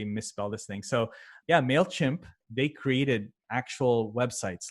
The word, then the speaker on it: MailChimp: And a lot of people actually misspell it when they're doing Google searches for this, or they're typing it in, or when they're just talking about it. So, they'll say like mail shrimp, or like just a